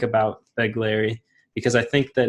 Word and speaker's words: Begleri: I don't know if it's correct, but Begleri, You can just pronounce like bug Larry. Bugleri, Begleri, and just say it fast.